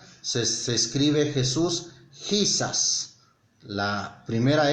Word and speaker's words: Jesus: En español es Jesús, en inglés es Jesus, ¿sí? Como si fuera la pronunciación de una Y al principio.